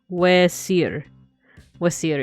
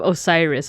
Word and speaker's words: Osiris: say their name uh one of the ways that uh I think from what I've heard his like actual Egyptian name and like pronunciation would have been this W wasir instead of Osiris Osiris would have been like the Greek name the only part that